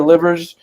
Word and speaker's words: Livers: Isaiah Livers, is how you say it, 42 from Michigan.